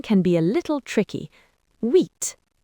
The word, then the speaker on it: huit: huit The H is silent. It starts with a U sound. huit Avery?